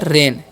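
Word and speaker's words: rain: र और ए आई जब भी रहेगा किसी वर्ड में तो जब भी दो वोवेल साथ में रहता है ना तो पहले वाले वर्ड का वचन होता है जैसे कि मैंने बताया तो यहां पर ए पहला है तो ए का होगा ए के लिए। ठीक है? और एन आई का नहीं होगा एन सेना तो हो गया रेन।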